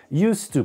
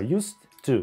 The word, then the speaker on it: used to: Used to получается. Произносим глухо. Used to, used to, used to.